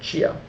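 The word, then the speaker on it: Xia: changan and there's also Chia that's c h n g hyen h n and chia x i a so those are the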